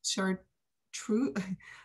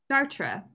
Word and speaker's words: Chartres: I want to say chartreuse. I'll say chartreuse because I don't know French. Chartres.